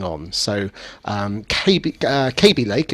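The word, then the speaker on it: Kaby Lake: So um KB uh KB Lake it's pronounced is um is the new the new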